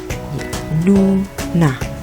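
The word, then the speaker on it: 누나: Ada nien dan u, lalu nien dan a. Maka dibaca nu, na.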